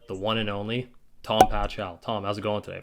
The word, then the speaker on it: Pachal: no it's closed uh the c is silent it's a weird name it's paul oh it's pahol okay i gotcha nice